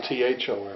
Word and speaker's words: Thom: Well, one's a TOM, the other's a THOM. Right. Well, TJ. But they're pronounced the same.